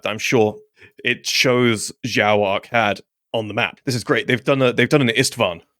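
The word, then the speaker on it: Zhao-Arkad: But this would be pronounced Zhao Arcad rather than Arcad. So there's that H noise that's just kind of in there with the other one.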